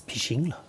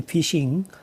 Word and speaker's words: phishing: common cyber threats is fishing ah so when we say fishing uh it is spelled p h i shing and fishing we categorize